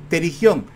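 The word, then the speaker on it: pterigión: Se escribe con p terigión.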